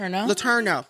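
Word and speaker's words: Letourneau: How do you pronounce her last name? Latero.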